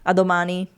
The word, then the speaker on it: a domani: A domani.